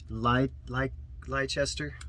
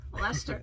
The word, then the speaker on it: Leicester: I said it wrong too. I said, let me pronounce it again. Leicester. Lester. Lester.